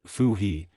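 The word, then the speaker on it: Fuxi: Fuhi, pronounced Fu-He, his wife, 3 sons and 3 daughters escaped in a boat.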